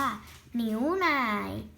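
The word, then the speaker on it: 牛奶: นี้ คือ นม นม ภาษา จีน อ่าน ว่า หนิว ไหน่ เหนียว นาย นิ้ว ไหน ๆ ก็ คือ เหนียว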